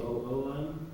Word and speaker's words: Blum: B-L-O-O-M? No, it's BLUM, but I think it could still be Bloom. It could be Bloom depending on how you pronounce the how you pronounce the U.